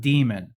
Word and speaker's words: daemon: It's not demon. No. And like the dude has even came out and said like, no, it's pronounced demon.